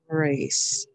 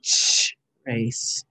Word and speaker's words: trace: it as a trace don't say sh race trace spell it with it a and i'm going to use the letter a to say a trace hear this c again and a silent e the e is making the a say a and it's making the